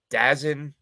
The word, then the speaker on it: DAZN: I have Dazn, which is garbage, which I found out today is apparently pronounced DAZN, which makes sense because they're atrocious.